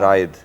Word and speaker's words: رائد: भी कहते होंगे हाँ, लेकिन राइद एक्चुअल अगर उर्दू में देखा जाए तो रे अलिफ हमजा ये दाल है राइद।